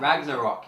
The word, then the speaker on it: Ragnarok: Is that Ragnarok? Yes. Yeah, that's how you say it. And by the pronouncing of that name Ragnarok, you know shit is gonna happen.